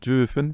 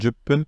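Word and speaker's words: 十分: au jepen jpen voilà c'est pas jefen c'est jpen pour 8 minutes il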